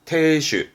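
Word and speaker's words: 亭主: 발음은 태슈.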